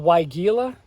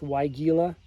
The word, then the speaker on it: Weigela: We have a couple Weigela, if I'm pronouncing that right. Wine Roses, the specific variety. Yes, Weigela.